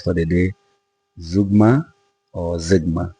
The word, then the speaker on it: Zeugma: the day, Zeugma or Zigma. I am more comfortable saying Zigma as is on the screen, Zeugma. People pronounce it Zeugma, but I'll go with Zigma.